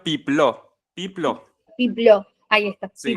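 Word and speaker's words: Peplau: Pronuncia Pipló.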